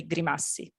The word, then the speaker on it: Grimassi: We would, as an Italian— Raven Grimassi is how I've heard it pronounced. Yeah, so it's, very similar to, in Italian, we would say Grimassi.